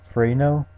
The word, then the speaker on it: Fresnel: Fresnel shader is actually like pronounced Fresnel, just like Fresnel, and it's nice for glassy and metal kind of textures.